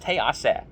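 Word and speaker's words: תֵּעָשֶׂה: We don't have a yud, but it is pronounced te'aseh, just like the Midrash says.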